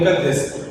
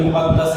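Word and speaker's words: مقدّس: اکثر طلباء یوں بولتے ہیں کہ مقدس، حالانکہ مقدس نہیں بلکہ مقدس ہے، دال پہ عزت ہے.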